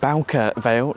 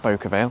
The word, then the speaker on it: Bowker Vale: Hello, welcome to Bowker Vale, not Bowker Vale. The announcements pronounced it Bowker, so that's how I'm going to pronounce it.